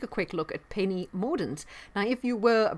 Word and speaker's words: Mordaunt: to just take a quick look at penny mordent now if you were a brexiteer you were